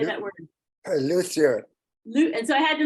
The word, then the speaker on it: luthier: Luthier.